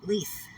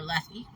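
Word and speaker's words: Lethe: It's kind of why I adopted the last name Leith or Lethy. You can pronounce it either way you want.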